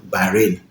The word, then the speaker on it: Bahrain: If you hear the pronunciation of this country, you will think it does rain there all the time. And the name is no other than Bahrain.